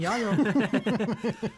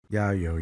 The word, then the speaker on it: Yayo: Yeah, it's pronounced yayo like mayo.